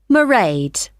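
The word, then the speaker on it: Mairead: you spell that it's m a i r e a d merade okay got that it's not a name I'm familiar with it's an Irish name she comes from Dublin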